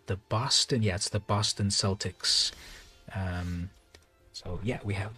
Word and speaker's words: Celtics: the celtics and yes it is spelled exactly the same but it is with the s pronunciation it is the where do they play at the boston yes the boston celtics um so yeah we